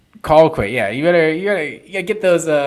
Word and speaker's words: Colquitt: Colquitt. Colquitt. Yeah, you gotta get those get that Georgia pronunciation wrong.